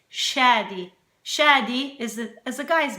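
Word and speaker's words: Shadi: but in Arabic it's it's not shady like shady like Slim Shady please stand up it's Shady shady is as the guy's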